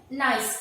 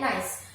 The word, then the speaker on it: gneiss: Metamorphic rock का है ये जो आप देख रहे हैं GNEISS, ये आपको स्पेलिंग दिख रही है, बस इसका एक्सप्लेनेशन होता है नाइस। इसका एक्सप्लेनेशन क्या होता है? नाइस।